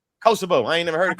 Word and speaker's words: Kosovo: Koso. Kosovo.